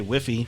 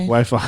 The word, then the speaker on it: Wi-Fi: Wachita, Or they say Whiffy for Wi-Fi. Wi-Fi.